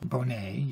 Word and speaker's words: Bonnett: First of all, his name's pronounced Paul Bonnett. Bonnett, yes.